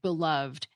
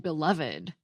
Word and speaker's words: beloved: episode recently about why some words that end in ed can be pronounced two ways, like beloved and beloved.